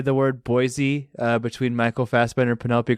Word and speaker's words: Boise: You know it's actually pronounced Boise?